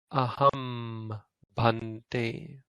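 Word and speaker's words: ahaṃ bhante: And so the nigahita takes on this sound, ma. So this should be pronounced aham bhante.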